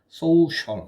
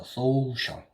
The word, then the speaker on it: social: social 이렇게 되겠죠. 이렇게 된 거 이거 쉬 발음입니다. 쉬 이렇게 해서 social 이렇게 되겠죠.